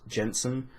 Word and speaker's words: Jenson: with an O pronounced Jensen like Jenson Button the Formula One driver because my other passion